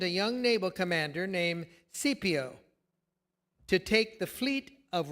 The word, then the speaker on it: Scipio: To prevent this, the Romans commissioned a young naval commander named Scipio to take the fleet of Roman warships and go after Syri- the Syrian vessels. It this may be pronounced Skippio.